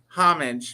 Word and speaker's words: homage: Homage. Pay homage. Does it start with H? Yeah. Yeah, homage. Homage. If you want to say it like an Aussie, it's homage.